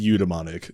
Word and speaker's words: eudaemonic: So if you asked for the phonetic pronunciation, I would say eudaimonic. But it is pronounced eudaimonic. So dumbmonic, even though it is spelled daemonic.